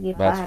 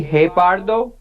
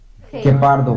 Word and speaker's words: guepardo: Guepardo. Guepardo. Not guepardo. Yeah, remember when you see this word, when you see E, you have Yes. to pronounce, you don't have to pronounce the vowel U.